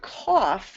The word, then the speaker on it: cough: But the word cough has three phonemes, k, aw, and f. The C spells k. The aw is spelled by O, just like in log and loss and moth and bother, all right? O spells aw a lot, like in cough.